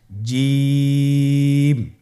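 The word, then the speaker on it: جيم: আপনারা আমার সাথে করুন জিম মাশআাল্লাহ আবার বলুন জিম আপনারা চেষ্টা করুন হয়ে যাবে এর মাখরাজ হলো জিহ্বার মধ্যখান তার বরাবর উপরের তালুর সঙ্গে লাগিয়ে উচ্চারিত হয় আপনারা পিকচারে ছবিতে দেখতে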